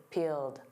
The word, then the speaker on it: peeled: And of course, peeled, that ED is a soft D. Keep your eyes peeled, peeled.